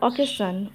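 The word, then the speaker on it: occasion: double C A okay ace আই ও এন উচ্চারণটা হলো সান বা সন অকেশন এর বাংলা মিনিংটা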